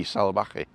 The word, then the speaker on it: Salvaje: ko salvaki kaio salaki and the v is actually sort of pronounced as a soft b salabaqui it's a bit weird